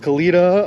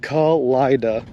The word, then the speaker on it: Kalida: Love the way you pronounce Kalita. Locals call it Kalida. Kalida? Not Kalita?